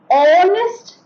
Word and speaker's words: honest: begins with the alphabet H is a consonant but H remains silent here and we can say